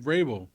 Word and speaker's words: Vrabel: Yeah, I mean, as soon as he got fired, Oh, Mike Vrabel.